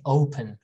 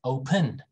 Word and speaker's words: open: you see the apostrophe because we say open we don't say open we don't do that right we say open or open in british you know australian people probably say open they're weird they are